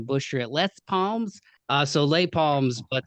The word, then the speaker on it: Les Palms: Is it Les Palms? Am I Late, late late palms. lay palms?